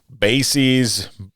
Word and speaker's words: Basse's: So for a while, I wasn't sure how to pronounce it. Is it Basse's, Basses, Basses?